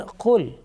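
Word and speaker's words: قل: similar sounding letters, and certain letters are pronounced with thick sound and also some with thin sound. You can see the example now here, the kul, and the second one is qul.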